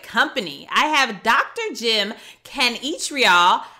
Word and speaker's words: Kanichirayil: am in great company I have Dr Jim Ken each real how are you Dr Jim well I'm I'm fantastic you nailed my uh my pronunciation of the last name so very few